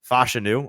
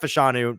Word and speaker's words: Fashanu: who we learned today that is officially how you say his name fashanu or F fashion is it fashion or fashu fashion I think fashion fashion so like fashion okay that's easy that's